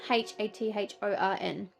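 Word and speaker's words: Hathorne: It's spelt differently, but it's Hathorn.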